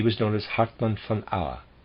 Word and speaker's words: Auer: He died in the year 1213, and he was known as Hartmann von Auer. I'm pronouncing Auer, A-U-E. Footnote number 6, Hartmann von Auer, 1160 to 1213, Mittelheide German Minnesinger and epic poet.